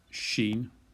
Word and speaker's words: shin: And then finally we have shin, well, this is seen here, and sheen, which is the SH, as in she.